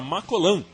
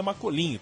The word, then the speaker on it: Macolin: Brasil então partiu para macol perto de Berna para se concentrar eu tô assumindo aqui que macol não é macolin tô falando na pronúncia que eu acredito que seja francesa na na preparação pra